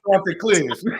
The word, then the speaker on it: Chanticleers: The Chanticleers.